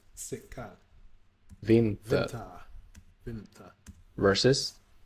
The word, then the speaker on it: vinter: vinter Vinter.